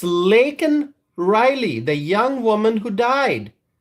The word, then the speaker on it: Laken Riley: And Joe Biden called her Lincoln Riley. How could he do that? And so there are serious questions about Joe Biden's fitness for office. And the fact that he mispronounced the name of Laken Riley raises further questions about